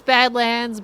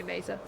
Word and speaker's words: Badlands: Even though it's the wrong pronunciation, I keep on lifting my head. I still go by the old words for it, to be honest. I know it's Badlands, but I just say Mesa.